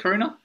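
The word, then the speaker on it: Coruña: Is that how you pronounce it? Coruna.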